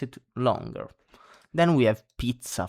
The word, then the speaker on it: pizza: Then we have pizza. For example, this one has the double zed. If you had one zed only, it would be pizza. You know, it's very different and that wouldn't mean actually anything.